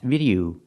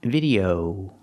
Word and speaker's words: video: vegetable and fruit vocabulary the word is not pronounced video It's pronounced video again use the long o sound o like No And Go video video video o use that long o sound for the last syllable video One video two